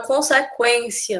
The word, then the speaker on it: consequência: letra U né não a não ser a palavra consequência na que a gente escuta o som da letra U consequência frequência mas a gente adquirir